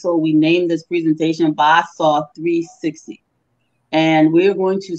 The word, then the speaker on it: Basaw: Yeah, the name as pronounced in our lingo is Basaw, that is Mr.